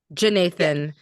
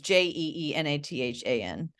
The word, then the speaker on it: Jeenathan: Because it wasn't clear to me that it was like the J was kind of like a separate syllable from the Nathan.